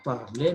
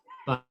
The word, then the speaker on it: parle: we did say that when a word ends with letter E or ES, then the E and ES are silent. That's why we say je parle, I speak.